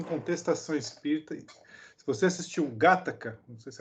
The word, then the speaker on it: Gattaca: Gente, seguinte, porque o Gattaca, aliás, Alexandre, você que é o nosso consultor de cinéfilo, aí, qual é a pronúncia certa aí? Gattaca.